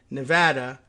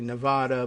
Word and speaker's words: Nevada: who tells me that Washoe is in Nevada, which is actually Nevada, but they say Nevada, and I like to go with the local pronunciations, even if it's crazy.